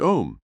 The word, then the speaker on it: Om: relaxed mentally and physically the sacred word am pronounced om will be used for